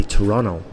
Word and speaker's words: Toronto: Canada well in Toronto they say Toronto and that's just their accent but they swallow the te they don't bother saying it so if you're not